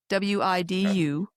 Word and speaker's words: Widukind: It's Widukind.